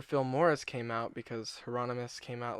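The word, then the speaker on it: Heironimus: Russ Buchanan, a close friend of Bob Aronius. I keep purposely saying his name wrong. He sounds like a medieval villain. Bob Hieronymus.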